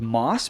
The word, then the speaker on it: MAUS: to use discount code MOSS because it stacks discounts and maximizes your savings. And MOSS is spelled M-A-U-S.